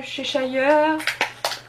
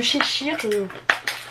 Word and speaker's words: Cheshire: Oh, c'est le chat de Cheshire. Ou de Cheshire. Le chat, tu le prononces comme tu veux.